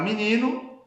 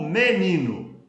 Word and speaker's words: menino: A palavra é menino, tá escrito aqui, né? Aqui, a tendência é se falar menino ou menino, né?